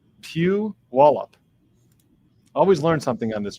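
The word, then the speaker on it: Puyallup: So, this is how you pronounce that city. Pew Wallup. Pew Wallup.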